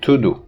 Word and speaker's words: tudo: similar to this because words like tudo in pronunciation they become tudu so the change of